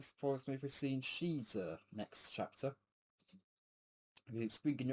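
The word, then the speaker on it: Xizor: I always get confused with Shizuo's name. I know it's I know it's Shizuo or Shiza. Um but it is spelled X I Z O R. You know, and I always I thought for a while I thought it was Shizuo. Um but apparently it's Shiza.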